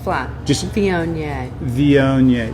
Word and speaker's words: Viognier: if you're bored now if you mispronounce it if you say V ogner then it sounds like you're talking about maybe a famous German composer or something like that it's which